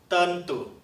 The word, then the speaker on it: tentu: tentu 好，那另外呢，我